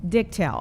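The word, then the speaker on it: Dichtel: Uh I pronounce it dicttail. Dicttail.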